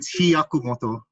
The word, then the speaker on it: Hiyakumoto: Hayakumoto? Pretty close. It's Hiyakumoto. Hiyakumoto.